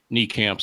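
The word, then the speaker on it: Nijkamp: Reuter from the athletic it's gonna be Gerard knee camp as I've been told indeed chatroom yeah I saw that also that apparently the correct pronunciation is knee camps so I will definitely make note of that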